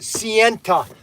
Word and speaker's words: Sienta: And make sure you pronounce it Sienta, because it really pisses Snuggles off when you... and he thinks that you're disrespecting Mr. Sienta, okay?